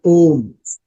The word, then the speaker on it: ओम: जी ने बताया था, जो ओम शब्द है, अगर हम उसको हिंदी के शब्दों से देखेंगे तो आ, उ हाँ, ओ और और मा माँ। से होता है ना ओम। जब उच्चारण करते हैं तो आ ओम, है ना।